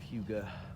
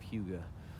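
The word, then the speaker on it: hygge: It gives me a feeling of Hyuga, which is a Danish word for like Hyuga. It's spelled weird.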